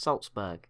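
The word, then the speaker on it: Salzburg: as I've been informed this city is pronounced Saltzburg sorry for it being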